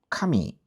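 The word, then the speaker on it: 髪: 하나님 할 때 카미는 이렇게 카미 이렇게 내려가요. 근데요 종이할 때 카미는 카미 하면서 이렇게 올라가요. 머리카락할 때 카미도 카미 이렇게 올라가거든요.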